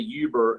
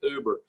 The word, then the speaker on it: Uber: I said that right I usually I say ubirr and then my kids always create me some soap I said it right uber okay it's uber not ubirr okay so it just looks